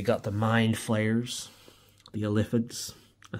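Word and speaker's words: Illithids: We got the mind flayers, the Eliphids.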